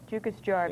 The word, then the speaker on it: Jukkasjärvi: This is in, pronounce that. Jukkasjärvi? Yeah. Jukkasjärvi, Yeah.